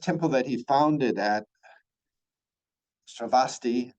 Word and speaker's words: Sravasti: The first temple that he founded at Sravasti, sometimes pronounced Savati, which was consecrated in 1988.